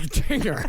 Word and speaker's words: Jinger: r looks likeing looks like Jinger looks like Jinger it's like Jinger Dugger Jinger it's pronounced gingering with a J and one G